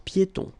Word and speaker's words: piétons: Un passage pour piétons. Un passage pour piétons. Final S here, not pronounced, and then final not pronounced. un passage pour piétons.